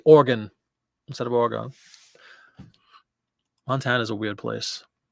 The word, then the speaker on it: Oregon: as much as it says Oregon like an organ donor that's what we were